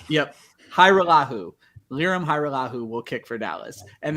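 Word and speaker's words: Hajrullahu: So they signed Liram, Hairulahu. I've been working on this all morning, and I even have it written phonetically. Yep. Liram Hairulahu will kick for Dallas.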